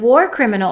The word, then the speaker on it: war criminal: We're going to say the infamous because infamous begins with a vowel, and war criminal is a compound noun, so we stress the first word, war criminal.